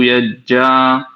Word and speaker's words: यज्ञाः: ॐ शन्नः सोमो भवतु ब्रह्म शन्नः शन्नो ग्रावाणः शमुसन्तु यज्ञः शन्नः स्वरूणां मितयो भवन् भवतु शन्नः प्रसवः शम्भस्तु वेदिः। बढ़िया। देखो, एक स्थान पर देखो, यज्ञ नहीं करेंगे, यज्ञाः, यज्ञाः, यज्ञाः।